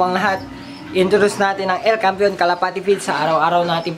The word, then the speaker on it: El Campeon: And then El Campeon, ay aliwa laman, El Campeon Pigeon Feeds, yun ang tamang pronunciation mga kalapati.